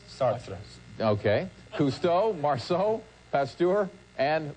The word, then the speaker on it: Sartre: Did I pronounce that correct? Sartre.